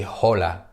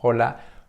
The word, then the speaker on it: hola: Archie Archie is silent sound okay we don't pronounce Archie it's like here Ola we don't say holla no no hola hola hola hello hola Alana my mother okay